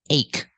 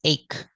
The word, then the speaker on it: ache: This word is ache. We spell it with CH, but we don't say H. We say ache, making the K sound.